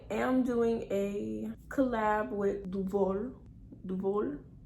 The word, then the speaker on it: Duvolle: doing a collab with duvor duvall i'm saying it fancy because honestly that's how i think it's pronounced i was saying duvoli but i was like nah luvoli can't be right so it's duval what are you okay